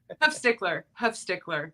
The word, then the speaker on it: Huffstickler: Huffstickler. It's okay. That's where the Schluter are born. It's easier. Pronounced the way it looks like it.